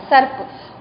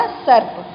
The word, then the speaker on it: सर्प: और ये र रेफ की मात्रा जो है उसका आधा र का उच्चारण कहाँ आता है? स और प के बीच में आता है। तो ये क्या हो गया? सर्प।